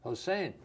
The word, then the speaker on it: Hossein: Hossein.